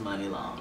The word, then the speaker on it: Muni Long: Muni is Money. I just Muni like... is Muni. Right, but it's pronounced Muni Long.